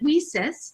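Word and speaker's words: WiCyS: acronym lisa's w-i-c-y-s and we pronounce it we cis like we sisters because that's exactly what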